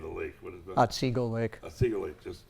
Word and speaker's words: Otsego Lake: And if you ever get a chance, and I can't pronounce the name of the lake. What is that? Otsego Lake.